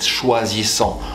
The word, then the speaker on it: choisissant: That would be the way to say it, choisissant.